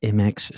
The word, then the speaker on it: Mx: It's not mister. It's MX Stormy Nightshade, geriatric justice crusader, interpretive dance revolutionary, and vegan choir conductor.